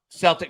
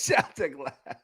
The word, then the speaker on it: Celtic: Uh Celtic says, "Why are you always late for my class, Mr.